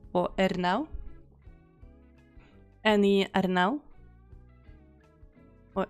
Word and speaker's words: Ernaux: I don't know and you don't pronounce the X so it's just R now or ER now any I don't know